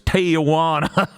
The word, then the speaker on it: Tijuana: i was honestly floored everyone pronounced tijuana correctly i'm pretty sure except for lance wreck and i was like how come no one's saying it like america it's tijuana i don't understand anyway